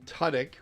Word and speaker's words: Tudyk: Alan Tudyk, which is the correct way to pronounce the name.